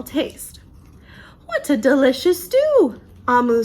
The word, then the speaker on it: Amu: Thank You, Omu. Sorry, it's Amu. Ooh, I love that. It says, note to the reader, Amu, pronounced Amu, is the Igbo term for queen. So remember, it's pronounced Amu.